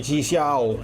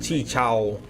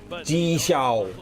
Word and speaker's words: Ji Xiao: Bacanya Chi Xiao, bukan Chi Chao. Ji Xiao.